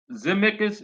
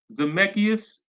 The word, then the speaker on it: Zemeckis: And the creator and the writer Robert Zemeckis, if I'm saying it correctly, Zemeckis, the guy who wrote and created Back to the Future, he said no, no, no, no.